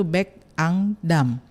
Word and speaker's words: Bekangdam: bacanya pun saya baru tahu tadi ya bahwa bacanya itu Bekangdam.